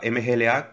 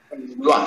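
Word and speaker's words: Mgła: En Mua. Se dice Mua. Mua. Mua. Mua. La L esa tachada se pronuncia como una L. L. Y se dice Mua en polaco.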